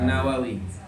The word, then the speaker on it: Nawawi: Kalau yang dimaksud Imam Nawawi orang Indonesia yang lahir di Tanara ya itu tanpa alif lam.